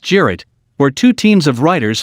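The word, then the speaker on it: Cirit: The weapon's name comes from a traditional Turkish horseback game, Sirit, pronounced Jirit, where two teams of riders fight a mock battle using wooden javelins which are called Sirit.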